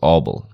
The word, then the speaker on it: Abel: In Afrikaans it's Abel. So that's the way we pronounce it, like my dad's name is Abel, my grandfather's name was